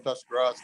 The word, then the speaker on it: Tuscarawas: And we live in the little town of Sandyville, northern Tuscarawas County. So Tuscarawas? Is that how you say it? Tuscarawas. Okay. I've been saying it all wrong.